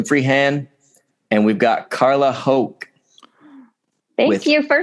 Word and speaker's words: Hoch: We've got myself, SM Freehand, and we've got Carla Hoch. Thank you for saying it. You pronounced it correctly.